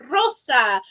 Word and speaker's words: rosa: If the R is in the beginning of the word or it's a double R, it's rosa, arroz.